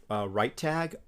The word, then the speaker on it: RiteTag: So I use a tool called RightTag, and it's spelled RITETAG.